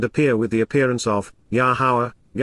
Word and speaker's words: Yahowah: Prepared to face and appear with the appearance of, Yahowah, the proper pronunciation of the name of Eloah, God as directed in His Towrah, teaching regarding His hayah existence and our Shalom, restoration, our God, Elohim and Akdu.